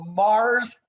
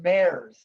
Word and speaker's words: Mares: up a candy bar a mars candy bar saying this is not how you pronounce my name it's representative mares and i still remember